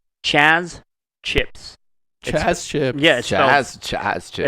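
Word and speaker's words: Chazz: is chance chips chess chips it's spelled it's listening it's a Lithuanian company it's spelled uh c-h-a-z-z oh like jazz like jazz exactly uh I'll read this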